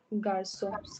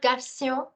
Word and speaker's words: garçon: And it does nothing but changes the k sound into sir. Changes the sound of k into sir. Okay? So for example, you have this word. Vous pouvez prononcer ça? Qu'est-ce que c'est? Garçon. Garçon, which is a word for boy. Garçon, also not garçon, it's garçon. Garçon.